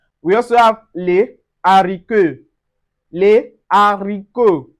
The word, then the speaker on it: les haricots: We also have les haricots. Les haricots. So, we don't say les haricots. No, on dit les haricots.